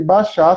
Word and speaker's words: Bashar: E mas você bota na internet baixar, se escreve Bashar, que aparece lá.